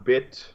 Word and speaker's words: BitChute: Yeah, so we also upload our videos on BitChute. It's like a laundry chute, not like a gun chute.